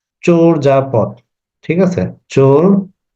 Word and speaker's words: চর্যাপদ: বলি অনেকে এটার উচ্চারণটা চর্যাপদ বলে আসলে চর্যাপদ হবে না এটার উচ্চারণ হবে চোর যাপথ ঠিক আছে চোর যা